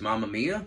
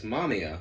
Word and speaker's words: Mamiya: film on IMDb I was like hey it's Mamma Mia it's Mr Mama Mia uh it's mamia and that's how it's pronounced in the film so this is a